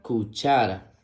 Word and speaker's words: cuchara: La siguiente imagen muestra una cuchara. La palabra cuchara se escribe con C-U, que suena Q, C-H-A, que suena cha, R-A, que suena ra. Cuchara, cuchara.